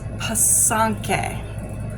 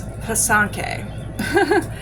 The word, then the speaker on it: pysanky: It's pysanky. Okay, so I will try to remember and say it properly. Like I said, it's pysanky.